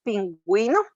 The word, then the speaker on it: pingüino: Pero si sabemos que tiene la diéresis, entonces sería gue y gui. Por ejemplo, en la palabra pingüino, paragüero, ¿verdad? Porque tiene diéresis, entonces ahí se pronuncia la U como tal, como su sonido.